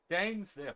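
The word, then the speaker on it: Dainsleif: Dainsliff, that's how you pronounce it.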